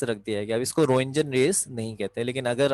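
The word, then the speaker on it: Röntgen: ये रेस सबसे पहले 1895 में, 1895 में रोइंजन, इसमें टी साइलेंट है, रोइंजन, रोइंजन ने दरियाफ्त की थी, जिनकी वजह से इनका नाम रोइंजन रेस रखा गया।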